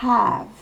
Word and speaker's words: have: Le have commence par H, il faut donc souffler le H. We have.